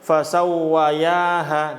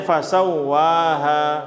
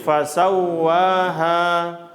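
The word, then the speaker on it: فسواها: Fasawwa. W-nya double. Dan tidak dengung. Di sini wawu, ingat, wawu tasdid tidak dengung. Jadi fasawwaha.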